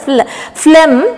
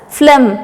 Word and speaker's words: phlegm: It is called as phlegm. You have to pronounce it as phlegm. PH is sounding like F, right?